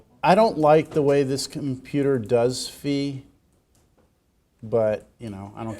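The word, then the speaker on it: phi: Greek word fi Fe is pronounced with a long e sound like fee the English name Greek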